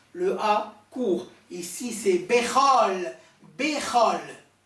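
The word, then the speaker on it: בכל: Un des signes qu'il faut dire Bechol, parce que, en principe, le O, le kamos, kamas, katan, le petit kamas qui se prononce O, qui est une voyelle courte, une voyelle brève, il est suivi d'un trait d'union qui le relie au mot qui suit. Donc, Bechol.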